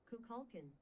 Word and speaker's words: Kukulkan: and it's pronounced Kukulkan.